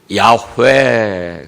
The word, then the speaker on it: 야훼: 여호와는 하나님의 이름 중에 하나인데요, 히브리 원어로는 야훼, 그렇게 발음이 됩니다. 근데 야훼라고 하니까 발음하기가 어렵고 뒤에 연결된 말들이 부자연스러우니까 우리가 번역하기를 여호와라고 이렇게 번역을 했습니다.